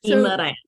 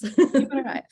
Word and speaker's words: Guimarães: I've been getting tutoring on how to pronounce Kia's lovely last name. Guimarães, yes. Guimarães.